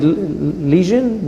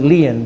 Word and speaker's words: lesion: I think you pronounce it lesion.